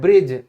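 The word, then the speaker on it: bridge: Example देखो, पुल, तो पुल की इंग्लिश क्या होती है, ब्रिज।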